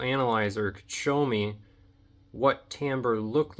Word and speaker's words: timbre: Timbre is spelled Timbre. It reads like timber, but it's pronounced timbre.